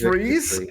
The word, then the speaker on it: Fries: His name is Freeze. Yeah, but it's it's spelled like fries, but they pronounce it freeze. It's like they say it's like German or something.